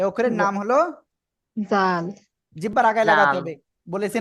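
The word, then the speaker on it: ذال: জোরে জোরে জোরে জাল এ অক্ষরের নাম হলো জাল জিহ্বার আগায় লাগাতে হবে বলেছি না জিহ্বার আগা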